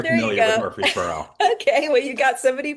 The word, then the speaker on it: Murfreesboro: We've got Murfreesboro. Am I Hey, pronouncing I, that I went correctly? to undergrad at Middle Tennessee State, so I'm Oh, very there you familiar with go. Murfreesboro.